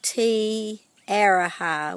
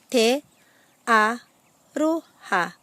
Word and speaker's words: Te Aroha: But one of the things that it's really important to know with the pronunciation of te reo Māori is the importance of pronouncing the vowels correctly.